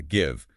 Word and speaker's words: give: Or think about give. Oh yeah, give. It have a silent e but a short sound. It breaks that rule. totally breaks it. It's famous for that.